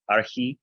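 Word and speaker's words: ἀρχή: Archi, archi. The he makes a really breathy sound.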